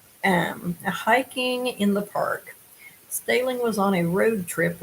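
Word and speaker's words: Stehling: is mitchell del stelling possibly pronounced stalin m-s-t-e-h-l-i-n-g he went missing in mesa verde national park on june the 9th 2019.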